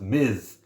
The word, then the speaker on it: Ms.: to pronounce that word ms period is actually pronounced miz so if you call her miss marvel you would be